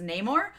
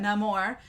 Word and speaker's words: Namor: I had talked about no more is how it is pronounced in the movie I've always read it as Neymar um but no more uh which I love